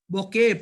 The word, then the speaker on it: bouquet: bouquet of flowers, bouquetனு சொல்லக்கூடாது பிள்ளைகள், bouquet. பாருங்க, டி உச்சரிக்க கூடாது. ரோபோட்னு சொல்றது இல்லே, ரோபோ.